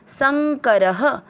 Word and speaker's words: संकरः: में अ मिक्स करेंगे संकर, र में अ की मात्रा तो विसर्ग को पढ़ेंगे ह, संकरः।